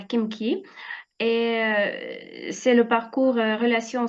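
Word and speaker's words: Khimki: Là, je me demandais comment prononcer Kimki ou Himki. Mais apparemment, pour faire simple, c'est Kimki en français.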